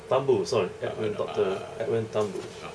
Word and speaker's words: Thumboo: I hate this no how my name pronounce oun as Edwin Tambo Tambo sorry edn Dr Edwin